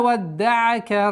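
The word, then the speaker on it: وَدَّعَكَ: Ма вадда'ака раббука ва ма кала. Ма, мягкий звук, ударение в размере двух огласовок. Ма вадда'ака. Удваивание даль. Вадда'ака.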